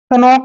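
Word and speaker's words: knock: करते ही नहीं है जैसे के एन ओ सी के यहां पर देखिए एन से पहले के आया है तो के का उच्चारण हमने नहीं करना है यह ध्यान रखना है कभी भी हम इसको नॉक नहीं पढ़ते हैं हमेशा हम इसको नॉक पढ़ते हैं नॉक के एन ओ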